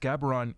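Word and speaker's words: Gaborone: originally from Laur Ontario who checked in from gabron I it's pronounced gabron in Botswana in Africa tonight and uh he's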